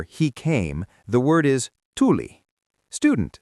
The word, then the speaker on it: tuli: If you want to say fire or he came, the word is tuli.